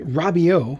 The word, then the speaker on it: Rabiot: these kits relatively cheap this one here is called a robio i believe is how it would be pronounced just regular green variant